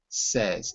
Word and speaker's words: says: She says, not say, says.